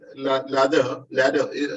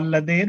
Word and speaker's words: Lader: Ladder, is that correct, brother? Pronunciation? Yeah, we call Ladher, but it is okay.